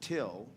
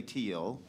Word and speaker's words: teal: a Nebraska Farm Boy at hard and we pronounce it till just like the word t l l but I can say teal so in the teal hym book hymn number